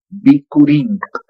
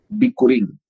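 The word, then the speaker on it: bikurin: Luego así no se escribe curín con B alta, hija y con K. Bicurín. Bicurín. B alta i k u r i n. Bicurín.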